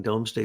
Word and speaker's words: Domesday: the Doomsday Book but the proper pronunciation is what you're saying domesday book that was basically